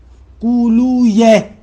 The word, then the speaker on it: قولویہ: وہاں پر کہتے ہیں کہ قانون یہ ہے کہ اگر وی آخر میں ہو، جیسے مثلاً ابن قولوی، تو ان کو یوں نہ پڑھے وی، یہ تلفظ غلط ہے، سیبویہ نہیں ہے، سیبویہ قولویہ، ایسے پڑھے، درست ایسے ہے.